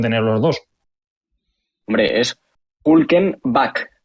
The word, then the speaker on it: Hülkenberg: ¿Cuál es la pronunciación de Nico? Hülkenberg, sería bien dicho.